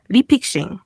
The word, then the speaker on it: refixing: 리픽싱, 영어로는 refixing, 리픽싱이라고 읽습니다.